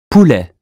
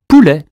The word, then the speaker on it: poulet: Poulet. U or OU? Ou as in zoo. Poulet.